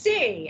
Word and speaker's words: Seay: twitter account i just put in parentheses it's pronounced c s-e-e yeah because that's where i got that's